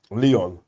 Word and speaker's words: Lyon: You know, it's like you got Leon, innit? Yeah, and it's spelled like Lyon.